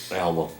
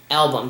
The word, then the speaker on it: Albom: It's Tuesdays with my Mitch and I'm not sure how to pronounce his last name. Album. Album.